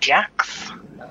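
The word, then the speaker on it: Jax: These things are called jacks. It's spelled J-A-X, I believe, for some reason.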